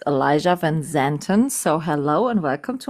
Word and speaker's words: Elijah van Zanten: In Germany, we would say it's Elias van Zanten. In English, I'm saying it's Elijah van Zanten.